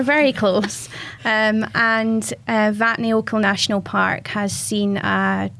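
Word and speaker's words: Vatnajökull: for where you're looking at this cuz I butchered it at the beginning um so my research is based in the vatne oal national park that was close you were very close um and uh vatne oal national park has seen a tourism boom since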